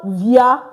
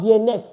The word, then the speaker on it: vient: Il vient, not viennet, not viennon. Because this ENT, we don't pronounce it in French. At the end of the verbs, we don't pronounce the ENT.